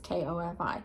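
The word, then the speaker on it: Ko-fi: you can find her on Kofi or coffee I don't know how to say it it's K fi I will link her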